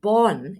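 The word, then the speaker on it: Borgen: is a series called Bor born in in in in Danish so ban that's how you spell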